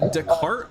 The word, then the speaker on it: Descartes: Uh, Deart. So, it's spelled descartes.